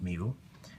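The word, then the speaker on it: μ: It's mu. It's pronounced mu.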